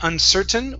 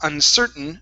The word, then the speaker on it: uncertain: Okay, now with this word, we want to swallow this T because we have a vowel plus an N. So there's two ways to say this. We can either say uncertain with a normal T, okay, or uncertain swallowing the T.